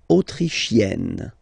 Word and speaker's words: autrichienne: L'Autriche, Autrichien, autrichienne. So same thing here. You get and then double N, you open the E.